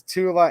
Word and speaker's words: Tula: to your friends, because some people will tell you this is called Tull Ammo. It's a play on words the way they spell it. This is Tula Ammo. You're supposed to read the same A twice, because when you just